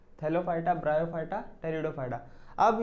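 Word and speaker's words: Pteridophyta: फिर से बोल रहा हूँ, जो बेटा पी है ना यहाँ पे, वो पी साइलेंट है, वो टेरिडोफाइटा होता है, पी टेरिडो नहीं, टेरिडोफाइटा, ओनली टेरिडोफाइटा।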